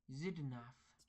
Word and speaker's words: Xidnaf: Okay, Hello, my name is Xidnaf, pronounced Xidnaf. voiced alveolar, voiceless, labiodental fricative.